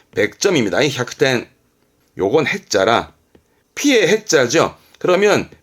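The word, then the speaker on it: 百点: 발음은 햅텐 100점입니다. 햅텐.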